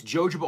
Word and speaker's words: jojoba: It's jojoba oil. It's things like argan oil. It's cedar wood, so it has Jojoba oil. Sorry, that is how it's pronounced.